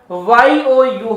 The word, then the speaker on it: ewe: तो याद रखिए स्पेलिंग EWE होती है लेकिन प्रोनंसिएशन YOU होता है।